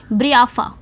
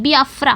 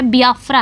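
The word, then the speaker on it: Biafra: और अचेबे अलगाववादी राज्य बियाफ्रा के कट्टर समर्थक बन गए—माफ़ कीजिए, ब्रियाफ्रा नहीं, बियाफ्रा, माफ़ कीजिए, अब मैंने इसका सही उच्चारण किया है। मैंने इसका सही उच्चारण किया। यह बियाफ्रा है।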